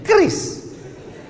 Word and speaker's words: QRIS: Cara bacanya gimana sebetulnya? Kris. Q-nya quick. Quick artinya cepat. R-nya response. Kris, quick response code.